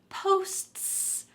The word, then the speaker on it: posts: to the next word posts posts let's separate this word let's say posts and then add on can you say that